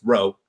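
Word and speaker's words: Wroe: play on my name my last name is WRO e which is pronounced rope but it's a play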